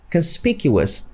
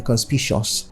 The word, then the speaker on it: conspicuous: have the word conspicuous conspicuous has four syllables but we often pronounce it with just three syllables so we often say conspicuous conspicuous conspicuous three conspicuous full and some people make the grievous mistake of saying conspicious which falls completely off from what is correct to say and the final